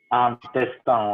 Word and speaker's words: intestin: intestin, ouais. Intestin. Intestin. Nasal.